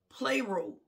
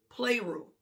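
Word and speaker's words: πληρόω: word is p l e o and it's pronounced play rule play rule so this word is a verb it's an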